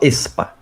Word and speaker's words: aespa: Se você não lê o A, você fala expa.